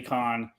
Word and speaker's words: Khan: Khan Macy's spelled wrong they spell it cone but it's Eddie Khan and Pete larocca on